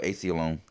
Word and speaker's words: Aceyalone: Oh, Aceyalone.